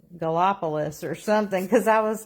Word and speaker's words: Gallipolis: And he said it was Gallipolis. So then I knew how to say it.